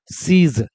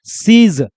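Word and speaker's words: siege: consonant में पढ़ाएंगे कि जी के बाद अगर ई आ जाएगा तो जी का उच्चारण ज का होगा किसका उच्चारण होगा ज का होगा और ई का उच्चारण तो होना नहीं है तो देखो क्या बन गया सीज क्या बन जाएगा सीज वर्ड का स्पेलिंग देख लो एस आई ई जी ई क्या प्रोनाउंस करेंगे उसको सीज क्या प्रशन करेंगे सीज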